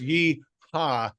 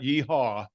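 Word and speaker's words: yeehaw: And by the way, it's yeha, not yehaw.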